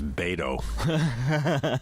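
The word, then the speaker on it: Beto: your first name is bado apparently much I should have said it unless your first name rhymes with Plato Plato not Plato Plato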